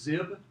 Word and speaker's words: xib: This launch screen this is actually pronounced zib, xib.